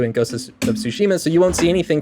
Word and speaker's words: Tsushima: I guess they're pronouncing it Tsushima.